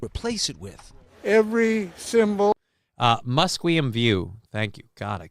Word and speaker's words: Musqueam: The actual way it's pronounced in English in today's day and age is Musqueam, Musqueamville, or no, they're covering it with a leaf in there, and now I can't see it.